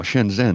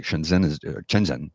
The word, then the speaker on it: Shenzhen: Shenzhen is how it's pronounced. Shenzhen is how it's spelled.